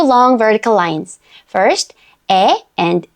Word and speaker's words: 에: 에. Again, we do not pronounce the 2 sounds separately. It is one vowel sound. 에. 에.